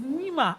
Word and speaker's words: Nima: I took a lifetime of fight and correct to say, it's Nima, not Nimota.